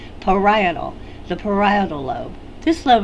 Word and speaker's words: parietal: the parietal lobe now that's a word that students mispronounce frequently try saying it parietal the parietal lobe this